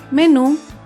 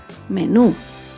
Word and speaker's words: menú: última sílaba por ejemplo la palabra menú menú se acentúa en la última sílaba menú las palabras agudas llevan tilde